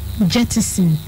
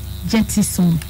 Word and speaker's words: jettison: scratch out this word scratch is jettison not jetty soon there's no word like